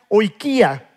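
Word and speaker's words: οἰκία: Ahora, cuando Jesús dice casa, en el griego original es una palabra que se pronuncia oikia.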